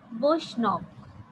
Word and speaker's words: বৈষ্ণব: উচ্চারণটা দেখো, বৈষ্ণব।